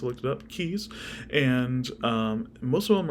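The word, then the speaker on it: cayes: how you pronounce it c-a-y-e-s yeah it is pronounced I looked it up keys and um most of them are unhabitable um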